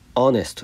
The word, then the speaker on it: honest: そうです honesty パーサーオーネットはねスペルはいい子だけどあの発音がアーネストですからねボインなので